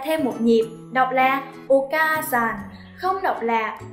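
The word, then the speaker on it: お母さん: sẽ kéo dài ka ra thêm một nhịp, đọc là Oka-san, không đọc là Oka-a-san các bạn nha.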